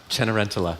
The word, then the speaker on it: Cenerentola: So can you pronounce it, please? Cenerentola.